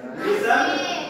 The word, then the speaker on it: listen: Listen. Ah, silent. Huruf apa yang di silent yang enggak dibaca? T. Iya, T. Silent T. Jadi bukan listen. Kalau masih ada yang baca listen berarti itu salah.